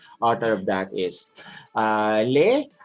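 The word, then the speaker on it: les: of that is uh lei is a plural is a plural article in french l e s with a silent s and for mere the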